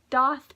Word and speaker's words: daith: He done my doth piercing. I think that's the proper pronunciation. That's the way to say it, is doth, but out of habit I say daith.